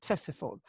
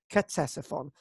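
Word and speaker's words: Ctesiphon: um and or tessephon that's how it should be pronounced tessephon it's it starts off with a c you drop the c ah and it's tessephon not quetzasfon as i've said in the past am i going to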